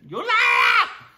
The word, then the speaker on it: Ullaallaa: It's called Ullaallaa. That's the proper pronunciation. Ullaallaa.